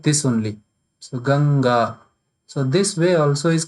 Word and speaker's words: Ganga: So when you will pronounce, then you will pronounce this also like Ganga.